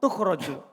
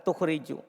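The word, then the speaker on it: تُخْرَجُ: Bacanya majhul, tukhraju. Bukan tukhriju.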